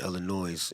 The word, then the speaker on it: Illinois: was born in Waukegan Illinois and I pronounced the s in Illinois I don't care what